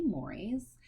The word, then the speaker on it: mores: I know it looks like Moors, and sometimes people pronounce them incorrectly, but it's technically mores.